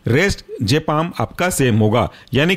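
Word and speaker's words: diazepam: mostly last जो word खत्म होता है वो जपाम से खत्म होता है लेकिन हर बार यही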